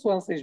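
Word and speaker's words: zwanzig: এটাকে 20কে আমরা হচ্ছে সোয়ানসিস বলি, কারণ আলফাবেট গুলোর নাম একরকম, এগুলোর উচ্চারণটা একটু ডিফারেন্ট। হ্যাঁ, তো এটাকে মনে রাখতে পারেন সোয়ানসিস।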